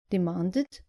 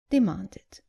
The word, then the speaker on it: demanded: Just make sure you pronounce the e clearly. So, not invited, but invited. And not demanded, but demanded.